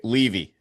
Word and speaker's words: Levy: Levy. Levy. Just a a hardy. Levy. Well, I mispronounced your name and you just told me